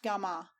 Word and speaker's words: Gami: Commonly pronounced Gama, and meaning a place of assembly.